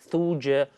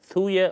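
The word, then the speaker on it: Thuja: is something called spell t-h-u-j-a shuja or thor you know different spellings sorry different pronunciations thuya ortuja t-h-u-j-a any homeopathy go to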